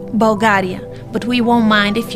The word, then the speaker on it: Bulgaria: more local the name of our country is pronounced Bulgaria but we won't mind if you find a